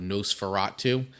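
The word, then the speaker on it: NOS4A2: which is super cool, called Nosferatu, and it's spelled out like NOS, the number 4. What's that about? TU Nosferatu.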